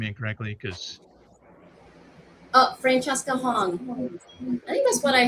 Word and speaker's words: Francesca Hong: Am I pronouncing any part of your name incorrectly? Because Oh, Francesca Hong.